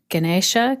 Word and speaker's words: Ganesh: i just want to say now the ganesh ganesha can it please correct me on my pronunciation yeah i say ganesh this t-shirt is